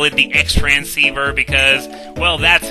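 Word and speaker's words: Xtransceiver: And here's the Cross Transceiver, which is spelled X-Transceiver. Personally, I always call it the X-Transceiver because, well, that's how the screen says it.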